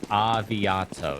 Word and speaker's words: Aviato: us see ya saya I'm gonna call it saya saying it's actually pronounced avi Otto so what you've been